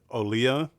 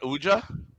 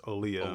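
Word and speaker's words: Olija: debating on how I pronounce this it's actually pronounced olya oh yeah yeah not Yuja not huija it's olya yeah then why have a jade day that's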